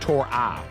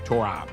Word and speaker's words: Tori: And look, a lot of you are, and by the way, they're saying it's pronounced Tori, not Tory, Tori.